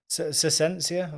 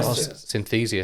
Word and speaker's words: Synthesia: I don't want to mispronounce it. My AI girlfriend. No. It's a different episode, Yeah. I think, there. Sensia, was there something? Oh, Synthesia.